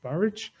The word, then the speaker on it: Burwash: mistress will return to burwash which should be pronounced barrage by train and the